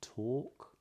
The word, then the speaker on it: talk: which is there are some words where the L is totally silent in this accent anyway for example in a word like talk or calm you notice